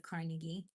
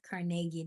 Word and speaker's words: Carnegie: I frankly told Mr. Carnegie or CargI, depends on how you say it, Carnegie.